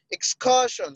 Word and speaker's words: excursion: The stress markers are on the first syllable, while excursion is on the second syllable. Remember again, shun. So ka is where the stress marker is, on the ka shun, the syllable before the shun.